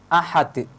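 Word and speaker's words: أحد: Contohnya seperti huruf dal yang ada pada kalimat ahad. Lafadz ahad merupakan qalqalah, bacaan qalqalah kubra. Karena terletak ada pada akhir kalimat yang diwakafkan. Jadi cara membacanya tidak boleh dihilangkan bacaan qalqalahnya, harus ditampakkan.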